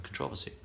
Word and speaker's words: controversy: There's also a little bit of controversy about the pronunciation of controversy rather than controversy. I say controversy. I believe it to be more correct.